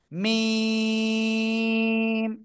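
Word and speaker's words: ميم: দুই ঠোঁটের বাইরের অংশ শুকনো জায়গা থেকে চার আলিফ টেনে উচ্চারণ করতে হবে। মিম। সবাই একসাথে জোরে বলেন। এই মিম অক্ষরটা চার আলিফ টেনে পড়তে হবে।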